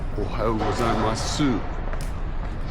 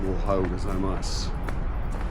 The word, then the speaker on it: ohayou gozaimasu: She said, "Ohayou gozaimasu." That's a female version of "Ohayou gozaimasu." Women tend to pronounce the U.